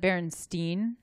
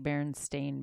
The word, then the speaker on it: Berenstain: remember it its Stein or stain when I pronounced it Bernstein so did I but spelled the ein yeah and then but but it's actually a I am like stain like berenstain bears I ya know that's not what it